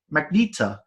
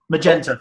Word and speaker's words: Magenta: blind sorceress Rudy kicked good woman that's my magneto from I think that's how you pronounce her name from Rocky Horror Picture Show and you've got the magenta magenta magenta thank you yeah dr.